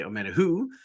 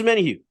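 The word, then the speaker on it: Omenihu: If I think of Always Sunny, I think of Dennis saying who, and then I can pronounce his name correctly.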